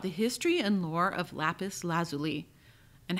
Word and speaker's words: lapis lazuli: There are two ways to pronounce this stone. The first is lapis lazuli, and the second is lapis lazuli. It really depends on the region you live in, but the standard dictionaries in the United States place the stress of the second word on the first syllable, lapis lazuli.